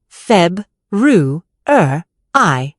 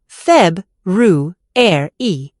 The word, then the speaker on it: February: People say every letter in words like February or comfortable, turning them into tongue twisters. For instance, February is just feb, ru, I, not feb, ru, e.